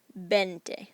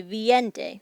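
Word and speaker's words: veinte: with 20 and 30 it's the e i combo that throws people off so think of how you say it bente we don't say viente we say bente so remember what order those vowels go in the other thing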